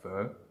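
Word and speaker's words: phở: So the way to pronounce that is not pho but pho, pho. So there's like a E, it's like a UR enunciation.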